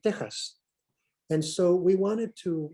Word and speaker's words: Tejas: Likewise, Texas, you say Texas in English, but if you write it with an X, it's in Spanish, you would pronounce it Tejas.